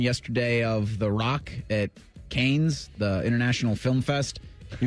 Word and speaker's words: Cannes: of The Rock at Cannes, the International Film Fest. He was debuting the Smashing Machine. Cannes. You pronounce everything right. You're right. Always. It wouldn't be Canes because that's chicken fingers.